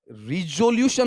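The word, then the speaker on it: resolution: पास पास का मतलब उत्तीर्ण करना यहां पर या पारित करना पारित किसको पारित किया बताओ उच्चारण रेजोल्यूशन रिजोल्यूशन नहीं रेजोल्यूशन ल्यूशन कि लुशन अब ये बताओ इसका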